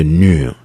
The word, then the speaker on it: Nur: En Écosse, du moins dans les Pays-Bas, les gâteaux d'Yule sont aussi appelés gâteaux de Nur. Le U se prononce comme en français.